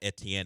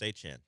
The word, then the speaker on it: Etienne: But I know it's not Etienne anymore. It's closer to Travis. Chan. There it is. Travis Achen.